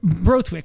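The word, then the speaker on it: Borthwick: Brothwick. I always pronounce it wrong.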